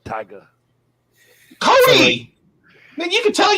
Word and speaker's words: Tyga: there Cody oh bro people have been putting hard R's on the end of tiger too and it's it's it's Tyga um it's 20 23 man you gotta you gotta say it right he's uh he's a